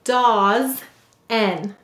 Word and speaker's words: dozen: We will say to spell dozen. What will we say to spell? Dozen. Let's sound it out. The first syllable is daws. D-A-Z. This only says z.